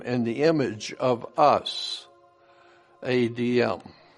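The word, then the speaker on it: אדם: The letter was adm we humans added make it to be Adam. But it's not Adam. It's ADM.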